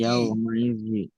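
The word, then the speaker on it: يَوْمَئِذٍ: ইয়াউমাইযিন। বলেন ইয়াউমা ই। ইয়াউমাই ইয়াউমাইযিন। ইয়াউমাই ইয়াউমাইযিন হ্যাঁ, আপনারা বানানটা মিলিয়ে নেবেন ঠিক হচ্ছে কিনা, ঠিক আছে?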